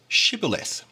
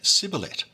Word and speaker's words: Shibboleth: If he said no, they would say to him, Then say Shibboleth, Shibboleth, which might mean either ear of grain or stream. It's a bit dubious. But the Ephraimite would say Sibboleth, not being able to pronounce it correctly.